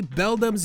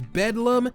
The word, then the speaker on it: Beldum: Groudon and Kyogre are Grudon and Kyogri, Beldum's mispronounced as Bedlam, Combusken is straight-up Combustion.